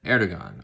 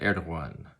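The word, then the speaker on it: Erdoğan: of turkey right now his name is president erdogan or correct pronunciation would be president erdogan a little bit in the instead of a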